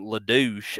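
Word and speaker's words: Ledoux: this uh mysterious figure named Louch I guess that's how that's how I've always say his name because it's spelled l e d o ux so I'm I've always called him Lou I don't know if that's how you actually pronounce it but that's what I'm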